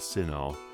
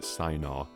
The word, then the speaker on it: Sinar: When reading the story board, I pronounced the name of the land as Sinar. On reflection, I should have probably pronounced it Sinaar, similar to Shinar from the Hebrew Bible, which is a clear inspiration.